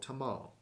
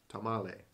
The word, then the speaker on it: tamal: And just to clarify, you've probably heard me say it wrong several times. In Costa Rica, it's called tamal. In Mexico, tamale. This is tamal.